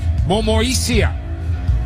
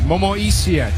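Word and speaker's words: Momoisea: Jira Momoisia. Take note of that pronunciation. Momoisia, Jack Murchie, Woody Mugreg, Makahesi Makatoa.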